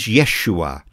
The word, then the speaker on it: Yeshua: The Hebrew pronunciation of his name is Yeshua, which means God saves.